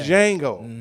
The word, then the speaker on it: Django: I was Django. You know what I'm saying? The D is silent.